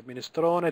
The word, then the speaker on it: minestrone: So minestrone, tortellini, risotto, spaghetti, tagliatelle, spaghetti, again cannelloni. One more time, okay, minestrone, so we're pronouncing every letter. Minestrone, we're pronouncing the E at the end.